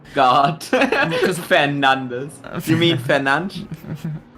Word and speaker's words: Fernandes: Is it because he's Portuguese, so it's pronounced Yeah. differently? I'm 99% sure you pronounce it Fernandes.